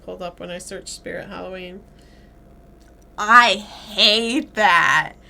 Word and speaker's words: Spirit Halloween: know how to say Spirit Halloween spirit of Halloween not spirit of Halloween it's Spirit Halloween I know that do